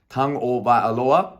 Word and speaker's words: Tagovailoa: For all those keeping up last week in my fantasy team, I had to put Tua, and that is Tagovailoa. So thanks very much, James, for the pronunciation there.